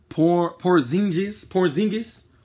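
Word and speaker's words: Porziņģis: How you pronounce his name? Porzingis.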